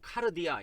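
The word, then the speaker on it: καρδία: 옆 으로 발음 할 때 는 * 카르 디아 * 라고 발음 합니다 .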